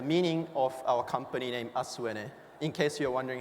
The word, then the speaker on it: ASUENE: to pronounce that also so ASU in Japanese means tomorrow it is also a Japanese pronunciation of Earth which is said as ASU and na being the short form of energy what ASU is envisioned